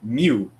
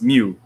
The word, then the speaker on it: mu: if you guys are familiar with pokemon right it's like a mu but we don't spell it m-e-u mu is spelled m-u if